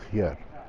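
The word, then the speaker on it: Győr: this challenge in the Hungarian city of Gyor well I think that's how it's pronounced I did ask a local and they told me that's roughly right it's spelled gyor with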